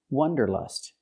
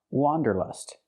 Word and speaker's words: wanderlust: The word is not pronounced wanderlust. It's pronounced wanderlust. Let's look at the difference. The correct pronunciation of this word has the sound ah, like hot and stop. It's an open sound. Wa, wanderlust. For the first vowel, for the first syllable, use the open ah sound, like hot and stop.